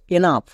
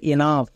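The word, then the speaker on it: enough: আ তাহলে রাফ next এনাফ এখানেও দেখো শেষে জি এইচ আছে জি এইচ থাকার জন্য এবং তার আগে ও ইউ থাকার জন্য জি এইচ এর উচ্চারণ ফ হবে হবে তাহলে এনাফ তাহলে কোন শব্দের শেষে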